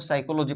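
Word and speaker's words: psychology: यहाँ पे P word है जो साइलेंट वर्ड है, तो पी से लॉजी नहीं पढ़ना है, पी साइलेंट है तो साइकोलॉजी पढ़ना है, पी को प्रोनाउंसिएशन करना ही नहीं है, ठीक है।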